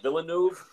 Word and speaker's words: Villeneuve: directors damn I some people pronounce it denis villeneuve saul pronouncing Villeneuve his direction of this film was